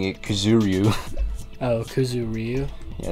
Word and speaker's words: Kuzuryu: Wasn't there another person whose last name was also Kuzuryu?